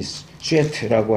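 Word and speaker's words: שֵׁת: 셋째라서 셋이 아니고 이 슈에트라고 하는, 영어 발음 욕하는 거 비슷한데 히브리어 슈에트라고 하는 이름은 대신, 누구를 대신한다 그런 뜻이에요.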